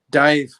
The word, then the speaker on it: Daimh: On my CD, like my most frequently played CDs, Dive, which is spelled not Dive as in Dive, and DAIMH, I think it is.